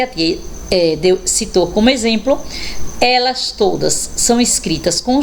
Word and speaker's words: exemplo: a próxima palavra exemplo olha aí o x com som de z exército Então realmente o X Ele fica totalmente diferente na pronúncia da palavrinha escrita com ele então aí com z eu tenho exame exército e exemplo vamos ver x com